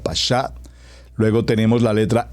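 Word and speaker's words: pashat: pasá por favor como está escrito como lo pronuncio p a s h a t pasá la palabra pasá por favor escríbala aquí en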